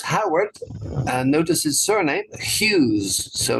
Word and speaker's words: Hughes: and notice his surname Hughes so not hugas that's actually used to be a star in Indonesia yeah hugas orali but in English you don't pronounce the G so Hughes and um she had